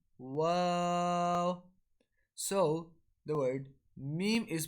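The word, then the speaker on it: و: While wow is pronounced with incomplete meeting and rolling the lips. Pronounce it like this. Wow.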